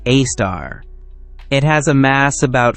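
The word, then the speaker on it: Sagittarius A*: At the very center of the galaxy lies something truly extraordinary, a super massive black hole called Sagittarius Az pronounced a star.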